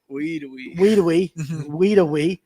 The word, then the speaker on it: Wedowee: tournament at Weiss and Wedowee. I'll say it right one time for Tony Collum. But anyway, they even spelled it out. Weedawee.